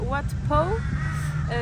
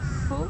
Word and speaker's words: Wat Pho: Et là, tout à l'heure, on était à Wat Po. Ça s'écrit Wat P-H-O. Po, mais ça se dit Po.